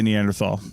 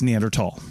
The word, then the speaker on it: Neanderthal: it's okay to say Neanderthal but when you're referring to the fossil species that is a ancestral line of the human lineage and possibly related to us it's neander tall yes and I so